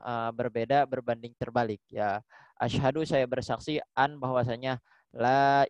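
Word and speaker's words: أشهد: Masyaallah ya gitu ya jadi Ashadu Alla ilahaillallah jangan Asyhadu allaah Nah itu enggak boleh ya kemudian Ashadu anna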